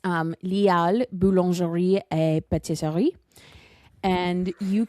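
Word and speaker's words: Les Halles: It's called Lial. I hear a lot of Americans pronounce it Les Halls or Les Halls. Les Hall. But it's Lial Boulangerie et Pâtisserie.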